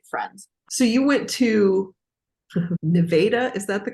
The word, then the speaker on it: Nevada: So you went to Nevada, is that the correct pronunciation?